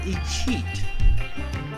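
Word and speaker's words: escheat: terms that's a thing called a cheat and I'ma explain that to you now I was gonna wait but I'm explaining that to you now what is it cheap actually and it's spelled e-s-c-h-e-a-t to me my whole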